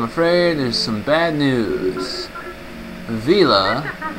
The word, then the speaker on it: Vela: Vila. I also heard her name pronounced Vela, but I prefer Vila.